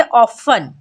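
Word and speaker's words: often: हो जाता है साइलेंट फॉर एग्जांपल ऑफें यहां पर अगर आप ध्यान दें तो टी ई एन जो है लास्ट में आया है तो यहां पर टी हो जाएगा साइलेंट तो पढ़ेंगे ऑफ क्या पढ़ेंगे ऑफें जैसे है लिसन यहां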